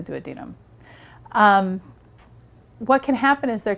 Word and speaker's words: duodenum: Some people like to call it the duodenum, but the real right way to say it is the duodenum.